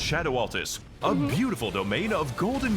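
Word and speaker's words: Scadu Altus: Welcome, everyone, to the scarred and radiant landscape of Skadu. It's pronounced Shadow Altus.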